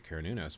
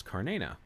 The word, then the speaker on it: Cernunnos: And apparently Alexander's mentions in this book that it was said you pronounce his name not as Cernunnos, like many of us say, or Cernunnos, as some have said, but it's Carnena.